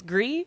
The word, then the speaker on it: Gris: do you say it how do you you say it griss and he's like technically it's gree he's like but I